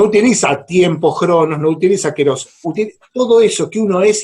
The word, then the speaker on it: kairos: lo suele leer, pero en griego propiamente dicho se escribe kairos y dice keros, y eón, se escribe aión, ¿sí?